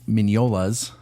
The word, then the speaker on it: Mignola: most famous for Mike mignola's his name is hard to pronounce sometimes Mike mignola filet mignon yes uh his book comic